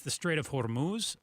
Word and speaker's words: Hormuz: it's the Strait of Hormuz. How do you pronounce it? Yeah, very similarly. It's the Strait of Hormuz. So just a little more aggression, anger. Yeah, violence in your voice.